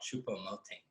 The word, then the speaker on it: Choupo-Moting: You're mispronouncing. It's called Choupo-Moting.